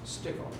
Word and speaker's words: Stickle: Your last name was pronounced? Stickle.